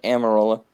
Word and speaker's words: Almirola: Eric Almirola, excuse me if I pronounce that name. It's Eric Almirola.